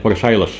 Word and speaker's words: Versailles: Di buku sejarah itu saya menemukan catatan atau tulisan bahwa Istana Versailles di Prancis itu, tulisnya Versailles tapi bacanya kalau nggak salah Versailles, sampai abad keberapa itu pesing dengan bau manusia buang air kencing di sana.